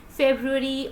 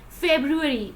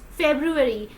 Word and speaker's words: February: next to is February never will pronounce it like February or any other word you have to pronounce R twice like February it's February the second month of